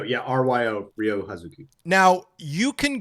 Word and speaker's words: Ryo: But it's Ryo. Yeah, Ryo.